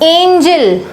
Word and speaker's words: angel: दोनों की स्पेलिंग लगभग है, जस्ट एक दो स्पेलिंग्स का इधर उधर हेरफेर है, बट दोनों के प्रोनाउंसिएशन में जमीन आसमान का फर्क है। इसको हम पढ़ते हैं एंजल।